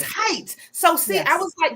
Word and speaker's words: Hite: Oh, it's Hite. So see, Yes. I was like, because I knew how to say Estevez, but I was like, is it Hite? Is it Hite?